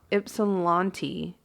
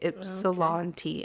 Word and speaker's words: Ypsilanti: I keep saying it wrong. Ypsilanti is how you say it. Ypsilanti.